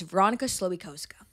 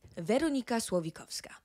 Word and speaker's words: Veronika Slowikowska: My name is Veronika Slowikowska. That's right. Veronika Slowikowska.